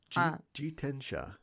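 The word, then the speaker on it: 自転車: Jitensha.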